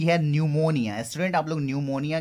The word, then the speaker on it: pneumonia: Student आप लोग न्यूमोनिया के स्पेलिंग पे कंसंट्रेट करोगे. The word begins with the letter P and the P is silent there.